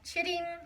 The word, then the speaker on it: chitting: today I'm talking about Chitti potatoes so no I am NOT cursing that's actually how you say that y'all potatoes ch ITT